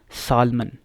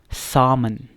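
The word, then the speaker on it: salmon: लेकिन इसकी जो सही pronunciation, the correct pronunciation for this word is सामन, ठीक है. एल जो है वो यहाँ पे क्या है, साइलेंट है.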